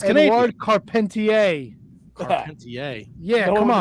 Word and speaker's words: Carpentier: Strombo, Dominic DeNucci, Eduardo Carpenter. Chief J. Strong, bro. Wait. Eduardo Carpenter. Did you hear him fucking just barrel through that? Eduardo Carpenter. Holy shit. How do you pronounce it? It's Canadian. Eduardo Carpentier.